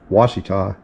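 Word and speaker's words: Ouachita: give it a try if you answered wasita you are correct the Talina National Scenic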